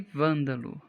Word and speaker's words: vândalo: E vândalo. Vândalo é proparoxítona.